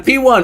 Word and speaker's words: P1: It's P1. Oh, it's P1. It's P1. The P1. All right, let's try it. The P. Hang on. P. Have you met P1? It's not pronounced Paiwan. It is P1.